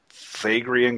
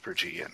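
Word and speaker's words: Phrygian: holding a a how do you say that Fagan cap it's it's Fran frian okay on the obers you have a hand holding a a stick with a a frian cap on it in front of an open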